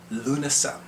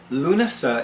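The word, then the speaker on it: Lughnasadh: summer solstice we have luna luna is spelled capital l u g h n a s d a women luna i'll know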